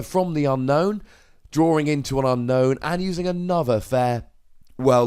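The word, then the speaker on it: Unown: coming down here, grabbing an Unknown, or an Unknown as it's actually supposed to be pronounced, but I just can't bring myself to say it in that manner. It just sounds weird.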